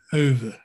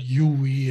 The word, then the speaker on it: Euwe: uh we have to clear up the pronunciation of his name it's earth that's over and i've heard ue and all this kind of stuff but it's over in dutch it's slightly different but irv is very